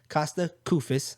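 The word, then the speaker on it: Kosta Koufos: Costa Koufis.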